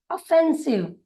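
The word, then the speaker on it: offensive: ओ का उच्चारण अ, एफ का उच्चारण फ, ई का उच्चारण ए, often, often. S आई वी ई हुआ सिव, ऑफेंसिव, ऑफेंसिव।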